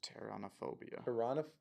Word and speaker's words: pteronophobia: This is spelled with a silent P at the beginning, just if Oh, you're good. curious. Pteronophobia.